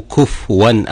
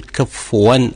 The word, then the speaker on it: كفوا: يقول ولم يكن له كفوا احد يسكن الفاء وهذا خطا خطا شائع ليس في روايه حفص ولا في غيره ان تقول كفوا احد فبالتالي والحاله هذه